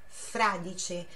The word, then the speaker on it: fradice: Fradice. A sílaba forte, a tônica, é o fra. Então é fradice.